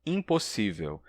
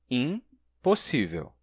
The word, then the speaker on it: impossível: Por exemplo, se a gente pronunciar palavras como impossível e embora, separando a primeira sílaba do resto, fica assim, impossível, embora, e não impossível, embora. A gente não diria a primeira sílaba como im ou como em, e sim em, impossível, embora.